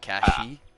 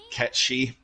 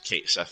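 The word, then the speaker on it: Cait Sith: But with in the game, because there are no accents or like they call them fadas over some of the letters, it's not accented that way. So it is Kate Sith in Final Fantasy VII.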